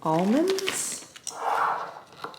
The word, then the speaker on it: almonds: almonds or almonds almonds I feel like there's three ways to say it there's almonds which is you're saying it how it's spelled there's almonds which is how we say it which is almost imagine it being spelled a r l almonds and then there's almonds which is like it's been spelled with a u